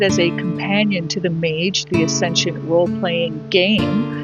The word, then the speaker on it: Mage: This is the Mage, the Ascension Tarot, pronounced Mage, as in rhyming with page.